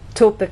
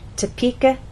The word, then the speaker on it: Topeka: place that stress because if it's moved to the incorrect place other vowel sounds change for example instead of